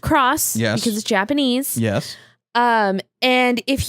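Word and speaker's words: χ: Hearts Union cross no it has an X but it's pronounced cross yes Japanese yes and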